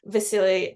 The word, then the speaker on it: Vasil: think yeah yeah yeah it's just that it's spelled v-a-s-i-l so I'm sort of like I was just remembering the way it was said and it sounded kind of like a seal yeah yeah um it